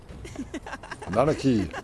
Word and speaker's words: Nanaki: Nanaki. That's how you pronounce it, We huh?